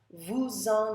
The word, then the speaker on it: vous en: Vous en achetiez beaucoup. Vous en. You see how the S has to be pronounced when it's followed by a vowel.